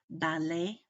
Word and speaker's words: ballet: long a sound um such as ballet those those end consonants there are silent and it makes that e along a sound ballet is both a